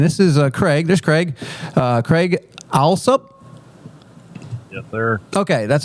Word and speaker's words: Craig Alsup: Craig Alsup. Yes, sir. Okay, that's how you pronounce his name.